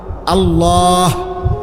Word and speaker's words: আল্লাহ: এজন্য এটা খেয়াল করেন হা পুরা স্পষ্ট বিশুদ্ধ উচ্চারণ হইতে হবে শেষে আল্লাহ শেষে একটা গোল হা আছে ছোট হা আল্লাহ মানে আল্লাহু তো হুটারে